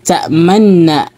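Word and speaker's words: تَأْمَنَّا: Kaya naging tashdid yan. Ang pagbigkas mo niyan ay ta'manna, no? Nakaidgham siya, nun, tashdid, ta'manna.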